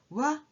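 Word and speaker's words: は: is actually ha so if this letter is used within a word it is always pronounced as ha but when it's used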